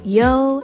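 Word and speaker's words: ㅛ: and next we have a vowel yo as in yo what's up you want to go down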